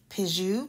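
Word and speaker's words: Pixiu: pronounce it wrong but it's like pijou p-i-x-i-u and these little guys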